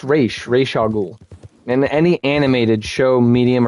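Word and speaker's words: Ra's al Ghul: or Batman fans say Raz Ahul um it's pronounced re rahul in any animated show medium or movie it's re or race re race a ghoul it's not Ross but you probably knew that re you probably knew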